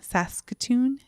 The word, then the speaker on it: Saskatoon: And we are adding this week, I say it wrong, Saskatoon.